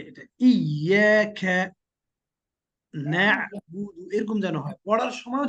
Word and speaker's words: نعبد: Practice করতে হবে এভাবে, ইয়াকা না'বুদু মানে নায়াতে একটু জোরে চাপ দিবেন আর এখানে একটু কম চাপ দিবেন, তাহলে ঠিক হয়ে যাবে।